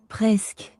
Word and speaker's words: Presque: Presque. Y'all hear that? Presque. Almost. They saying in English it means almost, but presque.